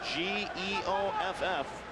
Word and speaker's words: Geoff: G-E-O-F-F. Spelled Jeff, but he pronounces it Geoff Sargent.